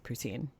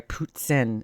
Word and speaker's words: poutine: And she's right there with the poutine. Sorry, poutssine, as Chantal pronounces it.